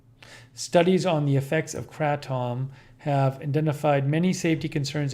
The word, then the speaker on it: kratom: how to pronounce it one of our viewers says it's pronounced tm says pronounce kratom like adam but crystalline says kratom